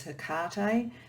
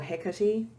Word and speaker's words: Hecate: the other person is herkate so she or hecati depending on how you want to pronounce it she is the goddess